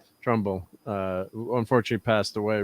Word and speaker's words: Trumbull: effects people uh douglas uh turnbull or trump always get his name wrong probably trumbull thank you trumbull uh who unfortunately passed